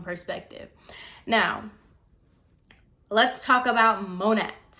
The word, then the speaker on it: Monat: now let's talk about monet monet who cares so technically it's supposed to be like the the brand is modern natural so mo net so i'm just gonna call it mo net so if i